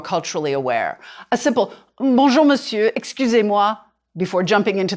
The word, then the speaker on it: monsieur: e u r two you can draw a line through the the r to remind you not to say it voila try this or